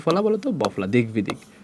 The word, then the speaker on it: দিগ্বিদিক: কি ফলা বলতো, বফলা, দিগ্বিদিক। বফলা থাকলে উচ্চারণ কি থাকবে বলতো, অক্ষত থাকবে, সেম উচ্চারণ অক্ষত থাকবে, মানে আগের মতো থাকবে, অক্ষত থাকবে মানে সে আগের মতোই থাকবে। ওকে, একই জিনিস বারবার। দিগ্বিদিক, এখানে দিগ্বিদিক, এখানে কি